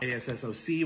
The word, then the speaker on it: ASSOC: ASSOC, which is what I'm pronouncing as assoc.